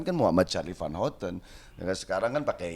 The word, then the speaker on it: Muhammad Charly Van Houten: Tapi kan ketika diucapkan kan Muhammad Charlie Van Houten. Ya, sekarang kan pakai Y gitu. Ya ini aja lah lebih untuk ini. Tapi kan pengucapan tetap Muhammad Charlie Van Houten tuh.